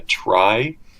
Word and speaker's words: trie: Like I don't know how you pronounce it, like a trie, It's pronounced tree. Yeah, just tree.